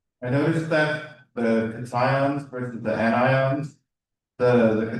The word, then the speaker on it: cation: Think of a kitty.